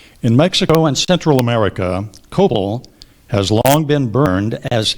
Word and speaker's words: copal: copal are there any alternate PR there are copal or copal copal first pronunciation copal cop c o p a l